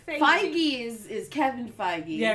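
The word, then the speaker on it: Feig: fig movies make you is that how you say his name I think it's fig yeah it's F I thought it was fake I've been saying it wrong in my head for like a year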